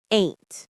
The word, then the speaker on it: ain't: The pronunciation is one syllable, ain't. It rhymes with paint or saint.